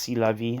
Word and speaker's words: c'est la vie: It's pronounced c'est la vie. I was pronouncing it wrong.